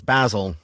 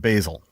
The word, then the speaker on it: Basil: was also Basil, but he wanted to sound more American, so he started pronouncing it Basil.